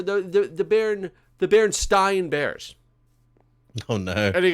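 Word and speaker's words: Berenstain: you know absolutely it was baron stein and i'm like okay wait a minute here i'm watching a movie specifically about the mandela effect this is probably the most popular mandela effect and you're pronouncing the thing wrong that the whole thing is really based on you know besides mandela i've never heard a person in my life call it stein the band stein bears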